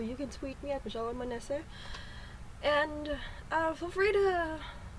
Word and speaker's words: Manese: Anyway, again, Manese. Manese nga pala, sa mga nakakamali sa pag-pronounce sa pangalan ko.